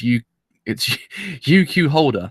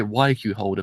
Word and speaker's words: UQ Holder: Alright, so I have returned once again today to actually watch what I always say it wrong. It's UQ Holder. That's it. I always say YQ Holder for some fan reason.